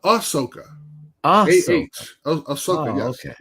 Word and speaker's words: Ahsoka: Osoku. Yeah. No, you don't need it. How do you say the name real quick? I won't forget it. Ahsoka? Osoka. No, Ahsoka.